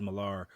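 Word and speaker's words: Millar: Uh, Wednesday creators Alfred Go and Miles Malar are defining Smallville creators, It's spelled Mia. M I A L I A R, which is a weird way to say Miller, but anyway, are developing the movie.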